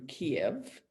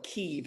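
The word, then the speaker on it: Kyiv: israelis flew in through kiev or kiev i guess they say we all now know a different pronunciation of that city based on um the hearings the trump hearings keep i think and i remember frank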